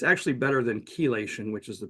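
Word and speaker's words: chelation: for detox and galenium it's actually better than kelation which is the pronunciation by the way uh is better than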